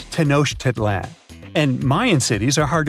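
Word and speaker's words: Tenochtitlan: Can you pronounce this name of the Aztec capital city? Yes, it's quite difficult to say in English and above my pay grade. Okay. Okay. It's Tanosh Titlan.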